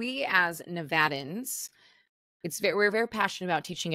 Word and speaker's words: Nevada: to do business in Nevada and they pronounce it wrong. I'm like, buddy, you got to start somewhere else first. Yeah, you lose all credibility when you say Nevada.